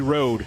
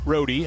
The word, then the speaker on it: Roadie: Libby Cole, and then I said Allie Road. Nope, Roadie.